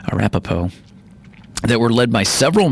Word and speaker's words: Arapaho: overwhelming victory for the Lakota North Cheyenne and Arapaho excuse me I pronounced it wrong earlier Arapaho Arapaho that were led by several major war leaders